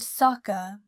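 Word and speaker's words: 坂: Additionally, the word saka, meaning slope, is pronounced the same as the word for prosperity, thus reflecting the wish for the temple to continue flourishing.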